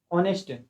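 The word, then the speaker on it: honest: ऑनेस्ट ऑनेस्ट भी क्या है? ऑनेस्ट भी हमारा देख सकते हैं आप ऑनेस्ट। स्टार्ट तो एच से हो रहा है। ऑनेस्ट क्यों नहीं पढ़ते?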